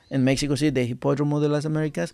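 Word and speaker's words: Hipódromo de las Américas: Hipódromo? De las Americas.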